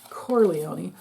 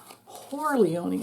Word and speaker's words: Corleone: Don the convict, Don Corleone, not Corleone, Corleone.